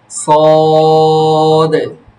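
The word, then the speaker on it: ص: দিয়ে পড়তে হয় এইযে এইযে এই যে দেখো সদে লাস্টে সদ সদ আবার সদ তোমার আওয়াজ খুব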